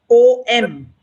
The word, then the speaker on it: Om: syllables if you go om is a three lettered syllable sound wise so when you are chanting the syllable is oh it's in three parts so first is o then is oo and then is um the closing mum all right so it